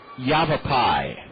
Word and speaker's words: Yavapai: I'm going to take a crack at pronouncing the name of Kyle's junior college. Yavapai Junior College in Arizona.